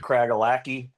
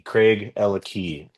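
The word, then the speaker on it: Craigellachie: of people pronounce it Craigalackie, Yeah. but it's Craig and Ella have the key. Craig, Ella Key.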